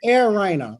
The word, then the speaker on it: Irina: It's Irina, like Raina.